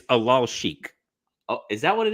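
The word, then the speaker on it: Alalshikh: By the way, it's Alal Sheikh.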